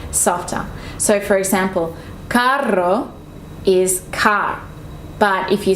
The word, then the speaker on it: carro: The only difference is that one has double R, one has one R, but they mean different things. So you have to pronounce it correctly. El carro, or está muy caro, expensive.